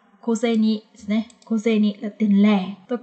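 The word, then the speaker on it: 小銭: Nhưng mà ở đây thì nó lại được đọc đặc biệt, nó sẽ được đọc là koseni.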